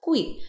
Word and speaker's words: 桧: They called this fried dough youjiagui, with the heteronym character hui being pronounced gui, which literally means deep-fried gui, so deep-frying the minister.